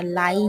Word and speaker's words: রাই: তারপর হচ্ছে কাঁচামরিচ তারপর লাই যেটাকে বলে আমাদের এখানে লাই বলে আমাদের সিলেটের ভাষায় তবে এটা রাই হবে উচ্চারণটা টমেটো এখন আমাদের টমেটো